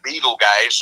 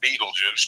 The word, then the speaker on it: Betelgeuse: And we've got Betelgeuse or Beetlejuice, depending upon how you say it, a massive, supermassive red star in the neighborhood that could go supernova at any point.